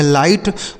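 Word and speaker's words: light: हो जाता है दोस्तों ल आई का उच्चारण हो जाता है आई और जी एच टी से हो जाता है ट इसे पढ़ेंगे लाइट मतलब क्या हो जाता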